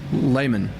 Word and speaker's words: Lehman: Okay, so everybody now, it's Lehman.